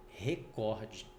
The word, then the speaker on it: recorde: não tem então ela não é uma proparoxítona é uma paroxítona e ela se pronuncia recorde tudo bem É só